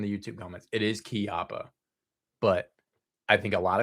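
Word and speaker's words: Chiappa: out song, I've I swear I've heard millions pronounce it Chiapa, not Kiyappa. Um, yeah. I I I think I apparently apparently I mean and this is just from the YouTube comments. It is key opa but I think a lot of people and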